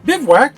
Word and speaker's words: bivouac: at the 1984 gi joe bivouac or biv whack depending on how you pronounce it now in 1984 there